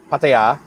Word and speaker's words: Pattaya: the hotel and how do you say it patty or pattaya pattaya pattaya but i changed my date to the